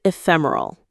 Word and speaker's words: ephemeral: Let's say the word is ephemeral. Okay, let's learn this one together. Ephemeral. It's a beautiful word. Ephemeral. Ephemeral. Notice the stress is on fem again.